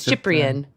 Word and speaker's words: Cyprian: Oh, that's actually how he spells his name, is CIP. Does it? I didn't even catch that. Yeah, Cool. yeah. His screen name is that Chip guy, so that most people understand how to pronounce his name. But his name is Cyprian.